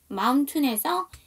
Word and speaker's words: mountain: 자, 그 다음 mountain에서 AI가 묵음이에요.